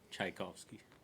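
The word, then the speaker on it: Tchaikovsky: great um hey I say it right sometimes chaikovsky you said it right I think he changed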